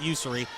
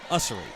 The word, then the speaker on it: Usery: the same last name she pronounced it user Rebecca pronounces user so Rebecca my apologies